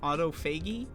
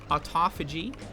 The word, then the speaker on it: autophagy: say the word uh some of my favorite mispronunciations are Auto fagy um Auto foggy I like autophagy you know when it's actually how it's pronounced um and uh there's